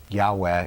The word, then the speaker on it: Yahweh: how to pronounce it Yahweh is a reconstruction of the most likely pronunciation but by tradition It